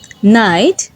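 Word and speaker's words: knight: Letter তখনই silent হয় যখন এর পরে এন থাকে। তখন কে সাইলেন্ট হয়ে যায় এবং এন প্রোনাউন্স করতে হয়। যেমন নলেজ নিউ নাইট নক আজকের আলোচনা এই পর্যন্তই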